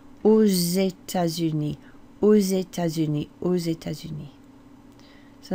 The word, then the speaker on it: aux États-Unis: So to the States, in the States or to the States is au, A-U-X, au. Because that begins with a vowel, you do pronounce that X as a z.